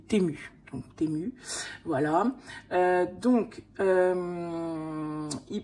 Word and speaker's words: Temu: qui existe depuis 2022 il y a plusieurs prononciations alors moi j'ai demander comment comment il voulait qu'on le dise la personne m'a dit on dit tumu donc TMU voilà donc